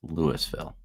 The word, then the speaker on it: Louisville: in Colorado that is spelled Louisville but it's pronounced Lewisville.